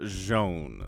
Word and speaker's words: Zoun: know tasteless calls them zoun but i have it on good authority it is joan so if you have more information than i do let me know in the comments and i'll correct my pronunciation but i'm going to call him jean okay okay so hmm